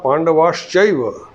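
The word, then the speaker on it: पाण्डवाश्चैव: Mamaka Pandavaschaiva. There are three words in this. Pandavaha, Cha, Eva. Now when they have joined, it is pronounced as Pandavaschaiva.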